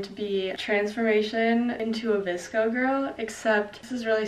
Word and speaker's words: VSCO: Disko the app that everyone pronounces like visco but it looks like the visco has always been